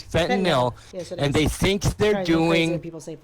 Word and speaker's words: fentanyl: or heroin is fentanyl it's pronounced fentanyl we all say that now but it's fentanyl and they think they're